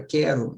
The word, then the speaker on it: quero: Já na palavra quero, né? O QU é dígrafo. Por quê? Porque o U não é pronunciado.